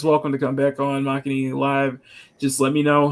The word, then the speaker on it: Makini: You can say it however you like, but if you want to say it properly, it's Makini. Makini, okay, yeah. Okay. You learned it from Mad Mardigan. The same man. Like I've heard different names like Mankini.